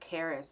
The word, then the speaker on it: Charis: So in Greek, the name is pronounced charis or what have you, if I was speaking from that point.